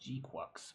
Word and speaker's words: GQuuuuuuX: I know it's pronounced GQuuuuuuX, but I mean, come on, GQuuuuuuuX.